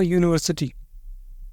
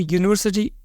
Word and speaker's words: university: consonant this is a university a university even though starts with U it sounds like y consonant sound so we say a